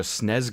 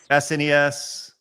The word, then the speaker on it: SNES: No, there's a Super NES, SNES, but it's never the SNES. Never. It's the SNES.